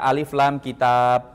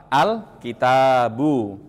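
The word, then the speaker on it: الكتاب: Dan dibacanya cukup al tidak dibaca alif lam lagi. Tidak dibaca alif lam kitab. Tidak. Tapi dibacanya apa? Alkitabu.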